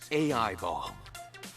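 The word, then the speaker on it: AI-ball: the official title is a eyeball oh i have to pronounce the a and the i separately all right that's a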